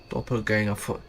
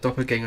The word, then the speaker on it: doppelganger: That's the German word Doppelganger. Doppelganger. That's like the English word for... Yeah, the English pronunciation for the German word. Doppelganger is like... Yeah. Because in German it's Doppelganger. Doppelganger.